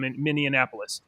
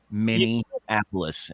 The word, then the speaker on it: Minneapolis: in the city of minap and they have you say it like I used to and got corrected by that in the elevator miniapolis and I went fix